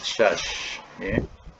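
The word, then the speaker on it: شاذ: satu hadis yang dikatakan syaz. Jadi perkataan syaz ini ialah dua hadis yang bertentangan. Boleh buat nota, ya. Syaz. Syaz tu ejaan syaz tadi dalam tulisan dia SYADZ. SYADZ. Arabnya Shim Alif Zal.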